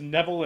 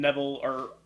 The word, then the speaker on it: Neville: Is it Neville or Neville? I've heard it pronounced both. I just go to Neville. It's always Adrian Neville. Adrian on NXT. Yeah, Adrian Neville. So I think it's Neville.